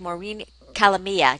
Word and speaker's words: Maureen Calamia: We have Maureen Calamia.